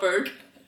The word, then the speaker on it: Berg: Not Bau, but Berg.